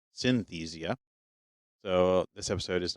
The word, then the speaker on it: Synthesia: any research on Synthesia which I think we actually were mispronouncing because I think we're adding an extra syllable in there I think it's just Synthesia so this episode is